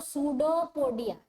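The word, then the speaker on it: pseudopodia: P silent है तो सूडोपोडिया, इसको क्या बोलते हैं? सूडोपोडिया। हाँ, ये सूडोपोडिया मतलब पी साइलेंट है इसका स्पेलिंग में।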